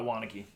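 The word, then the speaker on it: Waunakee: Brewing uh brew and canned in wanck Wisconsin wanaki whatever it's pronounced byed you actually nailed said Wan and then wanaki which one is it uh wanaki wanaki the reason I bought this beer is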